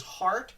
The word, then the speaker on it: Hart: Because Hart, the way it's spelt, I know the way it sounds is like heart, like, someone's heart.